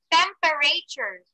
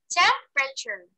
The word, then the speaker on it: temperature: I said temperature Oh So you didn't hear the letter e sound right because I didn't say temperature I said temperature okay next one How